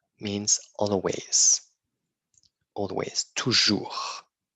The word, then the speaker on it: toujours: c'est ça ici ok toujours means always always toujours on ne prononce pas le S toujours souvent souvent often